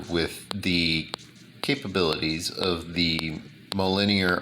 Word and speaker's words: Mjolnir: the capabilities of the linear armor or mjolnir armor as it's spelled then allow me to